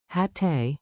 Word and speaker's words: hatte: Keep the double T crisp. Hatte, hattest, hatten. Say it with me. Your tongue is the drummer, short, tidy beats.